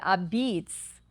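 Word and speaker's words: apizza: It's a pizza is how it's spelled, but a beats is how it's said.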